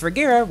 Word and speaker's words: Regera: at gt and his regera which i guess does rhyme with carrera 10 gram in his